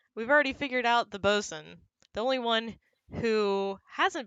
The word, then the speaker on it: boatswain: smee is captain hook's boatswain is how that's pronounced hello charles miner thank you because we've already figured out the boson the only one who hasn't been figured out